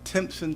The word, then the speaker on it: Timpson: But we always like to start at the beginning, and I think it's pronounced Timpson, Texas.